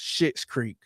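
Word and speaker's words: Schitt's Creek: But I guess it is pronounced Shit's Creek.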